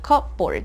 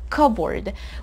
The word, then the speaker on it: cupboard: Quick pronunciation guide, this word has a silent P, so we don't say cupboard, it's cupboard.